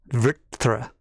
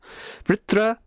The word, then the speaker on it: Vṛtra: Hard, difficult word for people to pronounce. You just got to curve your tongue up when you say vr, and then say tra. Vṛtra. Vṛtra was the first Naga.